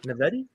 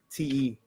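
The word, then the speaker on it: naïveté: Naivety? No. Naivete.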